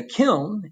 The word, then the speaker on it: kiln: And a kiln is a special oven capable of really high temperatures. Okay? Pronounce the N, don't pronounce the N, doesn't matter to me.